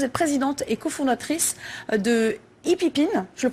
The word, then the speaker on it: Hipip IN: Alors vous êtes présidente et cofondatrice de Hippipine, je le prononce bien?